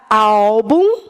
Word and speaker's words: álbum: essa é tônica essa at e a palavra álbum tem a sua sílaba tônica na penúltima e termina em um